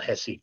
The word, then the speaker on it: Recife: Recife is how it's spelled. Recife is how it's pronounced.